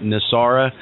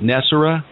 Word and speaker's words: NESARA: we mentioned earlier um I think I mispronounced it nesara Steve you you pronounce it nessar oh it doesn't matter